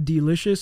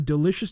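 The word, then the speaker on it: Delishus: name okay the d lish us brand the delicious it's spelt d-e-l-i-s-h-u-s sure dash dash yeah and this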